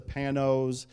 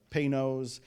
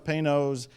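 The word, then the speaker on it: Panoz: handmade very rare pretty expensive car it's a panos some people pronounce it penos but panos paynos the one i have is name thank you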